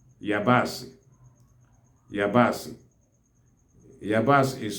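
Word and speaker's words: yabaasị: The onions are called yabasi. Yabasi. Yabasi is spelled as E-I-A-B-A-S-I.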